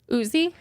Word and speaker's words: Uzi: say his name right Uzi it sounded so the more you say Uzi it's just like Oozy yeah like boozy because his name's like Usman right so it's like Uzi I mean I love